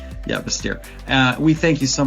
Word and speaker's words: Bastyr: I'm pronouncing that right? Bastier this time? Bastier. Right. Yeah. Bastier.